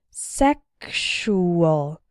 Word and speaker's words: sexual: as well as luxurious in the word sexual the X sounds like ksh sexual and in luxury and